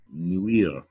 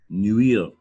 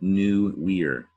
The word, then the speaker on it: nuire: It's a French word, nuire. All right, nuire. It sounds like new weir, nuire. And in French, nuire has the UI vowel pair.